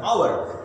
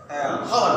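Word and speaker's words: hour: যেমন অ্যান আওয়ার, 1 ঘন্টা, তাহলে আওয়ার লিখতে গেলে এইচের উচ্চারণটা তখন কাটা যাবে, ও থেকে শুরু হবে উচ্চারণ, আওয়ার, হওয়ার না।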